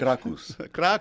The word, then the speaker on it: Krakus: No, my legal name is Krakus. Krakus? Krakus, which is a very Polish name. And is it actually pronounced Krikus, but we just say Krakus because we're not Polish? Krakus.